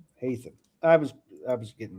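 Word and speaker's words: Haytham: Hyam. Hayam. Hayam.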